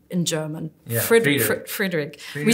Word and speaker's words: Friedrich: Friedrich.